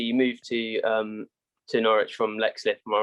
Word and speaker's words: Leixlip: Your career then, obviously you moved to Norwich from Leixlip, am I right in that saying that? League slip, yeah. Okay, there you go. Two pronunciation issues already.